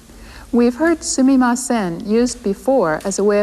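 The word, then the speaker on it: すみません: We've heard sumimasen used before as a way of apologizing, but here it's used as a polite way of attracting a person's attention. People sometimes pronounce it suimasen, as Jan did, but in either case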